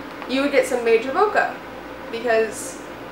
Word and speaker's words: bokeh: B-O-K-E-H. A lot of people don't know how to pronounce it. It's bokeh.